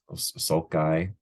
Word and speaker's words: sulci: um sulci salt guy I've heard it pronounced both ways salt gusts or salts uh uh sulk iron sulci um it's up to you what um I think I'm leaning more towards sulci is the plural instead of um sulcai but